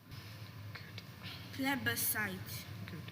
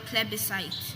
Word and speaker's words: plebiscite: Are there any alternate pronunciations for the word plebiscite? So there's plebiscite and there's also plebiscite. Plebiscite.